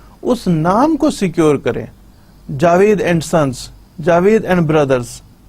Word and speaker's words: JAVLD: کرنے کے لیے JAVLD, ایل ہم اس میں سائلنٹ رکھ رہے ہیں, تو یہ جاوید ہم اس کو جاوید پڑھیں گے, جاویلڈ کو ہم جاوید پڑھ رہے ہیں.